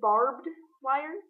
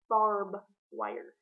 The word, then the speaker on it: barbed wire: at you like that it is barbed wire not barb wire instead of a it